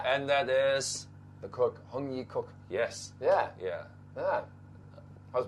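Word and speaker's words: Heung Yee Kuk: not bad why huh ah because it's just spelled like this right yeah x-e-u-n-g yeah and that is the cook hongyi cook yes yeah yeah yeah how's my tones good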